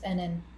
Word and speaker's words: Enan: You said it was Anan, right? Anan? It's Enan.